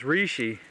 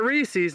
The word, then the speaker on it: reishi: how they say it it's reishi not Reese's not like the peanut butter cup but reishi re e